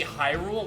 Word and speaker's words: Hyrule: Well, how you actually pronounce, it's actually Hyrule, like Hyrule Knight.